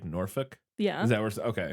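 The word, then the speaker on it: Norfolk: not heard of either I can confirm you pronounced norfol as it is said I live an hour down the road it's a really beautiful place as it is said so like norfol yeah is that where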